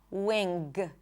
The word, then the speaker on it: wing: Wing. There is no G sound. Wing, wing. Na, nga.